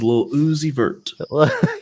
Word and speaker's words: Lil Uzi Vert: I believe that was Lil Uzi Vert. That's right. Yeah, you're gonna do that. If you say his name fast, it sounds like Lucifer, and that was done on purpose, my friend.